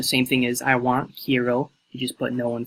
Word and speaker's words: quiero: So Spanish word for I want is quiero.